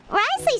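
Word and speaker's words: Wriothesley: to do something the of the beholder but Risley said he never resented you right isn't that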